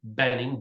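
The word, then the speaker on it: Boenning: right here it's D Benning B OE n n i n g we don't pronounce the O I've been called a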